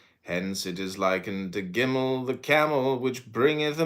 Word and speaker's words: Gimel: Gimel, pronounced Gimal, hard G.